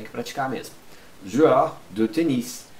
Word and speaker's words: tennis: Joueur de tennis. Aqui você pronuncia o S.